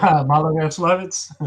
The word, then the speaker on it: Maloyaroslavets: to the Battle of, and I'll let you pronounce it since I have trouble with this particular. Maloyaroslavets.